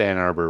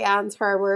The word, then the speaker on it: Ann Arbor: didn't say it right no you said ann arbor right you were right i thought i did say anne's harbor or something but no you you did it right you did it right